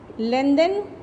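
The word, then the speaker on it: lengthen: अब आओ, एब्रिज का मतलब शॉर्टन है, तो उल्टा क्या होगा, एलोंगेट, लेंथन। देखो लेंथ कहते हैं, लेकिन जब en लगाते हैं ना तो th का साइलेंट, h साइलेंट हो जाता है, लेंथन हो जाता है।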